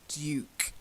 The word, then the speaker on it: duke: Now, the first one, I'm sure Americans say Duke, but as it's a British honorary title, then I'll give you the British pronunciation. It's Duke, a Duke, Lady and Duke.